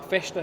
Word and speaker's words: festa: These are our festa fries. The S is pronounced sh, like all things in Portugal.